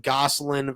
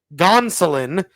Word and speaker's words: Gonsolin: And, Gosselin versus, not Gosselin, Gonsolin is how you pronounce that name.